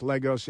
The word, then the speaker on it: Lagos: And Lagos, I know it looks like Lagos, but it's pronounced Legos in Nigeria. Lagos, Nigeria, 15 homicides per 100,000.